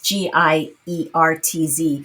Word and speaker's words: Giertz: It's like Geertz. It's Giertz.